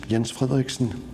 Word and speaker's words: Jens Frederiksen: to each other my name is Ian Scott Erickson to pronounce it in Danish I'm from Denmark from